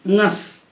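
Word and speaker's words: ङस्: और ngस परे होने पर ngस ये गस नहीं है, ngस। इसमें गकार का उच्चारण नहीं सुनाई पड़ना चाहिए, ngस।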